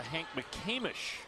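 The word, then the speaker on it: McCamish: how you play and I actually mispronounced that it's the Hank Mish Pavilion this is actually the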